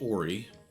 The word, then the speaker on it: Ori: Ori, O-R-I, so it might be pronounced Ori, I don't know. Pretty sure in the game it's pronounced Ori.